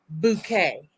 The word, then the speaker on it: Bucket: last name was Bucket, but she would always pronounce it Bouquet.